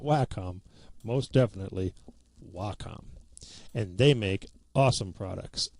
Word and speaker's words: Wacom: We've talked about that and Wacom tablets and yes, it is pronounced Wacom, not WHCOM, not Wacom, most definitely Wacom.